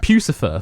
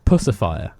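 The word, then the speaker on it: Puscifer: i thought it was i thought it was pronounced pucifer for ages but apparently you actually pronounce it pussifier puss in boot sapphire i know i thought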